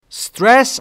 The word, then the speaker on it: stress: Stress یعنی استرس که میدونی تو فارسی بهش میگیم استرس اما تلفظ درستش در انگلیسی stress stress and lack of